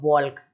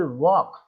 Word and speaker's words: walk: और देख लीजिए क्या लिखा हुआ है, WALK, तो अब बॉल्क, ऐसा बोलते बॉल्क, बाल्क, अरे भाई क्या बोले जा रहे हो, केवल वॉक, इस तरीके से केवल वॉक पढ़ना है आपको और कुछ नहीं, है ना, वॉक।